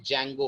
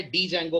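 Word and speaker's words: Django: होता है ठीक है इसमें डी साइलेंट रहता है मैंने बहुत से लोगों को देखा है डी जंगो पढ़ते हैं इसको इट्स not pronounced as डी जंगो it's pronounced as ज जिसमें डी अल्फाबेट साइलेंट है और इसी के अंदर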